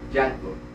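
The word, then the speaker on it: Django: y jango y dice me llamo jango DEA d J a n g o y dice la d no se pronuncia en muda y y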